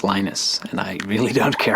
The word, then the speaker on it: Linus: I speak Swedish it's lus when I speak Finnish it's lenus when I speak English it's lonus and I really don't